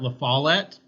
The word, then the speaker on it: La Follette: Robert La Follette is how I always pronounce it.